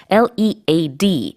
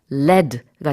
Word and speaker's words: lead: L-E-A-D, 이게 납이라는 뜻일 때는 발음이 lead가 되고요. 이끌다 이런 동사가 될 때는 lead라고 발음을 하죠. 발음이 다릅니다.